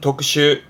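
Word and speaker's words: 特種: 특별한 종류를 말하는 발음은 독슈.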